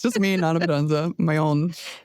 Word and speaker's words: Nana Potenza: Nana Potenza, and brand work. No, yeah, it's just me. It's just me, Nana Potenza, my own.